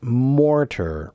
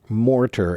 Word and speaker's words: mortar: and because of that the hard T becomes a soft D so it becomes it goes from martyr to Martyr martyr and then the other word is mortar mortar and again same thing